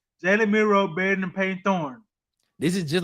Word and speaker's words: Thorne: Nick, is Jalen Milroe better than Peyton Thornton? Who's Thornton? You talking about Peyton Thorne? Is that what you said? Peyton Thorne.